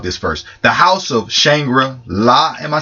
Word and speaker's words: Shangri-La: The House of Shangri-La, am I saying it right? Yes, Shangri-La.